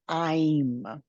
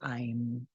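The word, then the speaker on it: ऐं: you into a mantra I'm it's spelled like the word aim a IIM it's the Bea sound or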